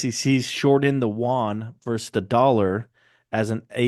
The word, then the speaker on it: yuan: I think you pronounce it yen. No, yuan.